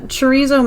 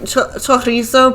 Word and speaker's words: chorizo: It's supposed to be like chorizo probably because it's Spanish.